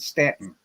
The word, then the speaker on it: Staunton: too far from there Staunton it's spelled stop but they pronounce it Statin stem it's the same